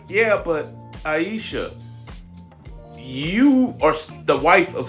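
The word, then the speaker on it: Ayesha: Aisha. Aisha Curry. She's in a better position than most. She's in a way better position. Even some women who otherwise sympathize with her are like, "Yeah, but Aisha, you are the wife of Stephen Curry.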